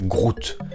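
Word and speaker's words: gruit: du mot serait latin en flamand il se prononce groot on retrouve ce terme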